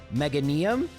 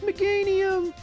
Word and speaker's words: Meganium: Meanium, it's pronounced Meganium.